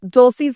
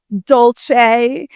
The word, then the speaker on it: Dolce: got the actual pronunciation, I was saying it all Italianike. Dolce. And now I actually wonder if when I order my cinnamon Dolce lattes at Starbucks, I'm doing it wrong.